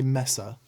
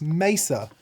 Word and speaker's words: Mesa: feel bad about this every time I say Messer and you yell and capitals its Mesa it's the same thing